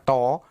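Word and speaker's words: τ: saya beri keterangan jadi toitu ini bacanya Toyo karena huruf Yunani bacanya toh ini untuk menyimpulkan atau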